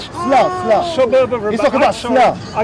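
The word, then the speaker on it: Salé: Salah. Sla. suburb of Rabat. He's talking about I'm sorry, Salah. I got the name wrong.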